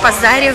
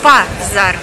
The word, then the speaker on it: пазар: Мы опять на фермерском базаре в Варне. Обращаю ваше внимание, по-болгарски правильно говорить все-таки «пазар», а не «базар», как у нас в России.